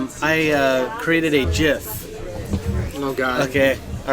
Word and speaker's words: GIF: The creator or the person who created that format, he says it's pronounced GIF.